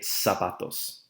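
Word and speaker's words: zapatos: some pantalones pants and sapatos shoes be careful there as you pronounce the word sapatos the Z does make an S sound in Spanish so we should say sapatos over here on the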